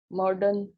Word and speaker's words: modern: और MODERN, मॉडर्न मॉडर्न, इसमें भी आर साइलेंट।